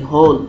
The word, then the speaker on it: whole: HOLE, হোল। হোল মানে গর্ত। মনে রাখবেন এই যে যে HOLE, হোল, এটার পিছনে যদি একটা W থাকতো, WHOLE, তাহলে উচ্চারণ হতো হোল।